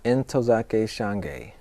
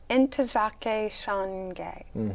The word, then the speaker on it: Ntozake Shange: Ntozake Shange. Ntozake Shange.